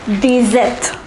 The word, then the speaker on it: dix-sept: The number 16 is pronounced as seize. Say it once again, seize. The number 17 is dix-sept.